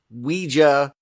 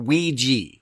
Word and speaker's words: Ouija: how you do it it's two syllables and the first one is we and then you can go J or you can go g and the reason why